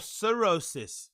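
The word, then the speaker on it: cirrhosis: on playo sorosis oh sorosis I'm saying Sor I'm saying I'm saying the the wrong pronunciation for the wrong word Co sorosis this is sorosis and what I said before was psoriasis right okay now I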